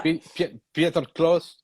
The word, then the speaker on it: Pieter Kloos: enter the studio to you record again with Pieter Kloos? I'm correct me if I pronounce in the wrong way because I think he would love Pieter, but Pieter. it is Okay, Peter Pieter. Close. Yeah, Pieter Kloos.